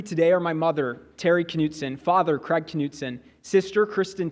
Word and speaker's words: Knutson: pronouns are he him yes my last name is pronounced Knutson and I do go